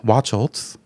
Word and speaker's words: Wachholtz: And then Michael Wachholtz, actually, I looked up the pronunciation. I wanted to make sure I get it right. Wachholtz, he went missing, also 26 years old.